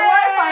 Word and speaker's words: Wi-Fi: It rhymes with hi-fi! Hi-fi, Wi-Fi, hi-fi, Wi-Fi!